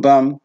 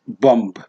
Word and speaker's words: bum: Even bum is bum, not bomb. Bomb, no. it is bum. So the last B is silent.